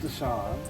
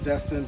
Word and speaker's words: Desion: My middle name, as you know, is spelled Desion, but it's pronounced Deshaun, and it's gotten Destin, Deslin, I don't understand how.